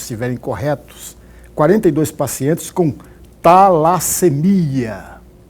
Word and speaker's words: talassemia: O que é talassemia? Eu pronunciei certo? Perfeito, talassemia.